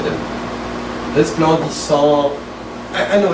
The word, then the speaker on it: resplendissant: Resplendissant, right? There's an S there. Resplendissant, dans l'azur. And no T at the end. You don't say it. The N and the T, you don't say them. Resplendissant.